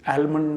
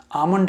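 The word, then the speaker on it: almond: तो आपको जब पता चल गया कि ये एलमंड नहीं है, आलमंड नहीं है, आमंड है, तो आप उसको वो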